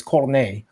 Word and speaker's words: Cornet: Cornet because it's fucking it's spelled in the French way, so it's Cornet.